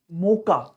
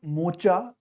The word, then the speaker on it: Mocha: That is cyclone मोका। इट्स नॉट मोचा, इट इज मोका। इसको pronunciation आप मोका बोलेंगे, इसको ना कि मोचा।